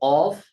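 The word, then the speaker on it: ق: হরফ আছে, একটা হলো কফ আর একটা হচ্ছে কাফ। তবে সেখানে সামান্য পার্থক্য আছে। কফ একেবারে গোড়া থেকে, আর কাফটা একটু সামনে, অগ্রভাগ থেকে, গোড়ার একটু আগ থেকে কাফ উচ্চারিত হয়।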